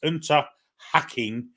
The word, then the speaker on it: Unterhaching: It's Unterhaching with a long A, as in posh, pronounced have.